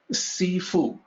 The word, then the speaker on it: Sifu: call them truthful so in Mandarin the same two characters Sifu is pronounced in a slightly different way Sifu so when the early